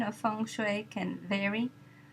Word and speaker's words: Feng Shui: Now the pronunciation of Feng Shui can vary. Feng rhymes with sung and Shui rhymes with sui in the way that has become the standard pronunciation of this art in the United States.